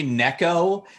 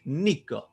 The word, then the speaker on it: Niko: He kept calling me Neco the entire time we were doing like the pre the pre- Theos game and stuff like that. And I was just like, "Dude, it's Niko Nicolash."